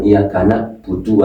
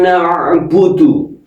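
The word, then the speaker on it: نعبد: Kalau dibaca iyaka budu berarti merubah huruf ain menjadi hamzah.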